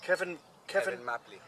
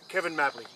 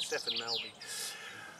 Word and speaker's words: Cefn Mably: Stefan, how do you pronounce this word place? Kevin Mabley Lakes. Kevin Mabley. See, Kevin Mabley. Now I know what that is. See, now spelled actually C-E-S, so I've been calling it Stefan Melby.